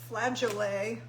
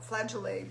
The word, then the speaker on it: flageolet: i had it uh i think it's pronounced flagellae like cassoulet so we're going to call it flagellae beans and um they